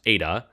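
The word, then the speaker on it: η: 6 pi and then that weird N symbol is pronounced ADA.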